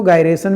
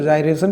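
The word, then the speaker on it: gyration: कई सारे लोग इसको गायरेशन भी कहेंगे, कई सारे लोग जायरेशन भी कहेंगे। तो अगर करेक्ट प्रोनाउंसिएशन देखें तो जायरेशन कहा जाता है, बट गायरेशंस भी आप कह सकते हो, कोई दिक्कत नहीं है, ओके।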